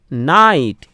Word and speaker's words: knight: আরেকটি দেখো KNIGHT নাইট, এখানেও কিন্তু কে এর উচ্চারণ হচ্ছে না, কে সাইলেন্ট থাকছে, বোঝা গেল?